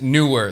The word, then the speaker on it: Neewer: I looked it up before this video. It is Neewer. That's how they pronounce it. I went and watched what it means in Chinese. It means Neewer. Even though it looks like Neewer to us English speakers, it's Neewer.